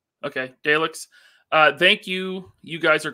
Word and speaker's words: Daleks: Did I Neither pronounce that right? Okay, Daleks.